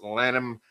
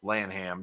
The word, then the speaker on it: Lanham: Travis Lanham, or Lanham, depending on your pronunciation of it, is the letterer.